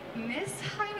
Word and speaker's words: Nesheim: So first of all, I think most of us are wondering, it's Evan Beck Nesheim, or how do you even pronounce it?